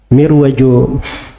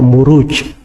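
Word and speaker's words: مروج: kalau Dar Raja ruju itu bukan mirwaj bacanya harusnya marwaj sebab bukunya kan setelahnya waadin aljauhar itu kalau di bahasa Arab gak dibaca mirwaj tapi dibaca muruj jamak dari marjun marajamuju itu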